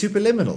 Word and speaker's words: Superliminal: It is superliminal. That is how you pronounce it.